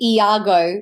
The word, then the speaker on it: Iago: I've always had like different pronunciations. I tend to say Iago, but I don't feel like that there's a preference personally like e either or for me is fine.